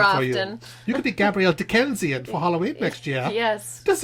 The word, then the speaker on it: Dakessian: Dakessian.